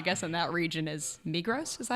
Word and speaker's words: Migros: So I guess in that region is Migros. Is that how you say it? Yeah, Migros.